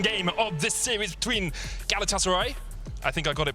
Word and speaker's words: Galatasaray: couple of tweets saying don't say galatasaray so it's galatasaray yeah we'll try if